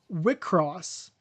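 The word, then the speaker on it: WIXOSS: Wickross. It's w ios ss. And for some reason it's supposed to be pronounced wickross which okay.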